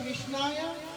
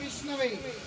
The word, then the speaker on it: विष्णवे: इसीलिए बोला मूर्खे वदति विष्णाय धीर वदति विष्णवे उभयस्तु समं प्राप्यं भावग्राही जनार्दन। मूर्ख व्यक्ति विष्णाया बोल रहा है कि गलत उच्चारण। बुद्धिमान व्यक्ति बोलते विष्णवे नमः, लेकिन क्या होता है,